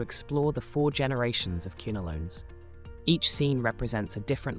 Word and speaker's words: quinolones: Let's discuss the kunolones. Queen rhymes with kunolones.